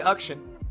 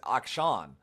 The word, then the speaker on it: Akshan: And so in India it's pronounced Ukshin, is what they told me. So, yeah. It always surprises people when I call him that, because in English pronunciations, it would not read like that at all.